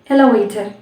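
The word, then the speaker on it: elevator: பட் இங்கே நம்ம எப்படி சொல்லணும்னா ஈன்றதை ஈனே நீங்கள் ப்ரொனவுன்ஸ் பண்ணக்கூடாது, எலவேட்டர் அப்படின்னு சொல்லணும். ஏன்ற மாதிரி நம்ம ப்ரொனவுன்ஸ் பண்ண போகிறோம். எலவேட்டர், எலிஃபண்ட், நாட் எலி. அந்த ஈன்றதை நம்ம அழுத்தக்கூடாது. ஈன்றதை ப்ரொனவுன்ஸ் பண்ணுறோம், அது வந்து சைலண்ட் லெட்டராக அந்த இடத்துல கிடையாது. பட் அதை லைட்டாக தான் ப்ரொனவுன்ஸ் பண்ணணும். ஈன்னு படிக்கக்கூடாது, லைட்டாக அப்படின்ற மாதிரி சொல்லணும். எலவேட்டர் அண்ட் எலிஃபண்ட் இஸ் the right pronunciation.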